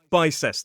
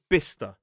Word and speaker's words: Bicester: I looked at it and I said bice which makes total sense. It looks like bice but it follows the pattern of places like Leicester and Glouester and it's pronounced bister.